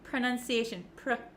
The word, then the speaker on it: pronunciation: like what they are so even though we have an O P R O It's actually kind of pronounced like a u like an uh uh sound and it's very short pronunciation pronunciation okay you don't need